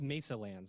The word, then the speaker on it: Mesalands: Gregg, let's level set for the audience, for people that and it's Mesalands. I'm saying it right? You are correct.